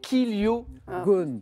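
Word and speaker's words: chiliogone: 1000 kiliogones. Bravo Mathieu, exactement. Alors ça se prononce kiliogone, mais ça s'écrit CHI.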